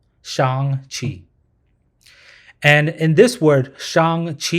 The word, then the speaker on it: Shang-Chi: A lot of people pronounce it Shang-Chi, but it's actually pronounced Shang-Chi. Shang-Chi.